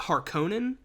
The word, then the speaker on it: Harkonnen: this film do baron harkenin which they pronounce it harkonnen whatever at no point does